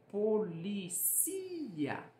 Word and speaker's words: policía: No português, a sílaba tônica é o li, polícia. Já no espanhol, existe a mesma palavra, mas ela é pronunciada como policía.